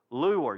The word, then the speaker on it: lure: You got to say it with 2 syllables. Lure. Y'all say it with me. Lure. Okay, it's not a lure. Okay, unless you're from Michigan, you can say it that way. Okay, you're allowed.